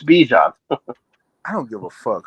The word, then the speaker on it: Bijan: Bijan, it's Bijan.